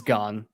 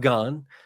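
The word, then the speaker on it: Gans: it get or again so do you know how you would say his name it's gone gone okay Kristoff gone the director of the first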